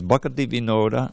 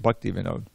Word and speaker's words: Bhakati Vinoda: That's what he wrote, Bhakati Vinod, to get that extra syllable in there. But somebody edited it, and we get Bhakti Vinod. And I can see it's going to be a problem, because they're going to sing it that way.